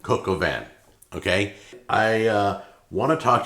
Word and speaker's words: coq au vin: That's how it's pronounced, coq au vin. It's like a cocoa van. It's like a van with Coca-Cola in it. Coq au vin.